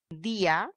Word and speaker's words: día: acabó el problema porque día perfecto lizbeth está aplicando la palabra día tiene un gato le colocas la tilde día vía día etcétera tienes la vocal cerrada con mayor fuerza de voz perfecto le decía que